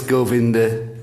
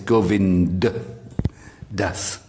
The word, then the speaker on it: Govind Das: So onto you, glorious Govinda Das. Govind Das. It's not Govinda, it's Govind Das.